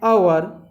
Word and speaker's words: hour: When in the given example H is silent, so that time article an is used. For example, an hour, an owner, an hourly bus service, an honest person.